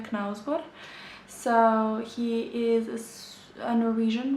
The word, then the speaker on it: Knausgård: In Serbian we say it Karl Ove Knausgård.